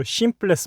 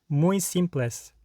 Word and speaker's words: simples: 만약에 내가 simples라는 발음이 이상해요. 그래가지고 simpless 막 이래요. simpless. 그러면 시 고쳐야 되잖아요. 그럼 요거를 연습하는 거죠. simpless. simpless 고치고 나서 앞에 거랑 붙여주는 겁니다. muy simples.